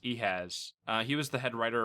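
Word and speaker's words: Ehasz: I believe his last name is pronounced Ehaz.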